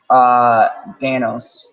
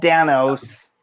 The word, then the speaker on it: Dano: Paul Dano? Yes, not Paul Dinos, not Paul Danos. There's no S.